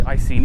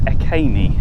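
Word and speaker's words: Iceni: well before the romans invaded and i say icni because i've always said i see but according to the information board it's akane and that's how it's pronounced so the story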